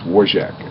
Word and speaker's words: Warjak: It's Warjak is how you pronounce it. Just forget all those extra vowels and stuff.